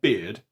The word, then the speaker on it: beard: Beware of herd, a dreadful word, that looks like beard and sounds like bird. And dead, it's said like bed, not bead.